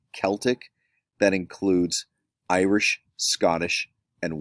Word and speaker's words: Celtic: This is not called Celtic, it's pronounced Celtic.